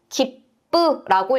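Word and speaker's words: 切符: 우리가 표를 기쁘라고 읽게 돼요. 맨 마지막에 왔기 때문에 쌍비읍으로 읽어 준 것 기쁘 기억해 주시면 좋겠죠.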